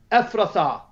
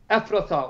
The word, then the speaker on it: Ephrathah: two but you bethlehem ephrathah afrita or ifra ifrata some pronounce it differently but everyone pay attention